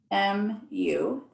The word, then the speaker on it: mu: in front of it that's m u you pronounce it mu then that way when